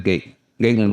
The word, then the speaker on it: Gaitlin: It look like Gatlin but it's G gayen.